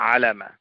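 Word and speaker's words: عَلامة: এই অর্থে আলামা এটা সঠিক উচ্চারণ হবে আলামা আল্লামা একই ভাবে বলা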